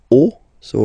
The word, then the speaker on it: os: then it will be, the rule is that you get to put X here at the end, but then same rule, you don't pronounce it. Des os, okay?